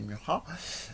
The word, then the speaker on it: Mucha: cet artiste-là, Alphonse Mucha, qu'en général on prononce plutôt Mucha chez nous, mais c'est Mucha.